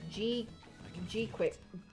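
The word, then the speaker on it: GQuuuuuuX: Apparently it's just pronounced G-Quix.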